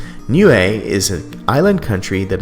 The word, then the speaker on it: Niue: to look up the phonetics and how to pronounce it and it is new a new a is an island country that is west of